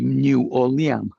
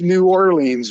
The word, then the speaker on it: New Orleans: pronounce it, it'd be New Orleans. New Orleans. Yeah. New Orle. But it's New Orleans. We all know that it's Nins. You have to stress the leans.